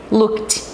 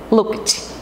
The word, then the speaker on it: looked: Olha só, ele vai ter um som voltado para o T. Looked. Looked.